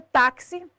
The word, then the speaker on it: táxi: No caso da palavra táxi, sílaba tônica de táxi, tá, penúltima. Terminada em i, acento obrigatório.